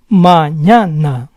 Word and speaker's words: mañana: The first word ends in a vowel. The stress goes on the second to last syllable. Mañana, mañana.